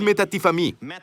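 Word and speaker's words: μετατίθημι: Cambiar es metatifamí. Metatifamí, así se pronuncia, ¿bien? El prefijo, las primeras sílabas se pronuncian meta, como metanoia. Enfrente, cambiar tu mente.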